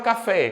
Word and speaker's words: café: se eu for vender Olha o café onde eu demoro mais tempo no fé Isso significa dizer que